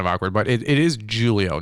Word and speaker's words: Julio: originally from Portugal so in the Portuguese language uh the J is pronounced as a j so it's Julio in the Spanish language and uh it's uh as an H as an Julio yes so but because